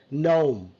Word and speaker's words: gnome: It's a gnome, it's a gnome, okay? Gnome. And small short people in a gnome, in a story, it's called gnome. And there is a g is silent, it's called null, null, na na la.